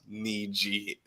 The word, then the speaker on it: Niji: My name is pronounced Niji. It's not whatever it is.